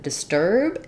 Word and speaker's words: disturb: the word disturb and the stress of disturb comes on the second syllable so you're going to hear that don't disturb me please the turb of disturb is going to be the longest um part of the phrase